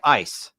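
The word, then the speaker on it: εἰς: So the um the preposition into which I say east right it's epsilon yota sigma is pronounced in Germany like ice and so and you'll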